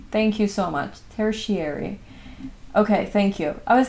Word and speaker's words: tertiary: In the meantime, it's pronounced tertiary. Thank you so much for telling me. Tertiary. Thank you so much. Tertiary.